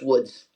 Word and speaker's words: Lodz: They lived in the city of Łódź, which is Lodz, so I'm going to pronounce it Lodz, even though it's Woods if you're Polish.